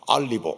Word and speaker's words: 올리브: 예루살렘에서 최고로 좋은 올리브 오일, 발음을 더 정확하게 하면 알리브 오일, 최고로 좋은 그 오일 향기가 막 나는 겁니다.